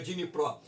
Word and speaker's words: Dnipro: Aqui está Dnieper, mas o ucraniano ele pronuncia Dnipro.